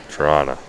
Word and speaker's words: Toronto: Yeah, so Lawrence here was just saying the second T in Toronto is silent, so Tirana.